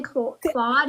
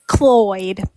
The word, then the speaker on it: Cloyd: So, did I say his name correctly? Claude. It's Cloyd.